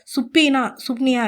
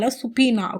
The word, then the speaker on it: subpoena: சுப்னியா இல்லை சுப்பீனா. ஓகேவா. சுப்பீனா SUBPOENA. ஓகேவா. கூகுளில் வந்துட்டு சுப்பீனா அப்படின்னு தான் ப்ரொனவுன்ஸ் பண்ணாங்க.